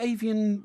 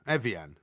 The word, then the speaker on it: Evian: Isn't there avian mineral avian water? flu is bird flu. No, isn't there a mineral water called avian? Evian. Oh, Evian, that's right.